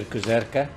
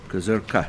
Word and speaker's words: Kuzerka: and the pronunciation of the surname is Mr. Kuzerka. Kuzerka, okay.